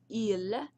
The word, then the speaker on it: il: Okay, so just so you remember, il, pronounced il, but spelled as ill in English, but pronounce it as il, so is masculine.